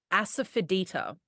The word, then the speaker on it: asafoetida: Then I always use this ingredient, asafoetida, I believe is how it's pronounced.